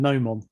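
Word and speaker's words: gnomon: mom oh what and no mom spelled with a g g-n-o-m-o-n you mean a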